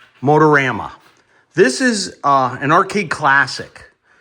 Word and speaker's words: Motorama: That's the correct pronunciation. Motorama.